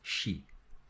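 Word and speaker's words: し: But now, so first we have Sa, and Secondly, instead of C, instead of having this, we have an H in between. So it basically becomes she.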